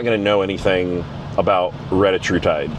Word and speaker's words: retatrutide: It's called, hopefully I say it, everyone refers to it as Reta, but I think the proper pronunciation is Retatrutide.